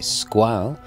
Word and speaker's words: Squale: some historical context first squ or should I say squal if you want to pronounce it correctly in French so italio it was